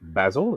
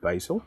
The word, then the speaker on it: basil: We say oregano instead of oregano, and we say basil instead of basil.